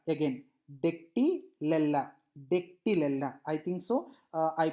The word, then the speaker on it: Dactylella: Now dactylella, again dactylella, dactylella. I think so I pronounced it, I think you understood my the way I pronounced the names, so you please follow that.